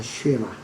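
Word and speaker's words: שמע: 자, 신명기 6장 4절에서 들어라 라는 말은 영어로는 이제 hear라고 그랬는데 히브리어 발음은 쉐마라고 부릅니다. 쉐마.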